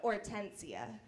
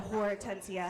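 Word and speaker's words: Hortencia: is a Spanish name starts with an H up front it's supposed to be silent but we were all mean and we pronounced it so horatencia had a rough go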